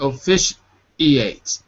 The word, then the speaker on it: officiate: You're saying officiate. There's no pause. Say shiate.